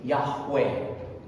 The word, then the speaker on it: Yahweh: However, most scholars today agree that the closest pronunciation of YHWH is Yahweh.